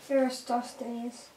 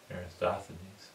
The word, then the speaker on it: Eratosthenes: Eratosthenes. Eratosthenes.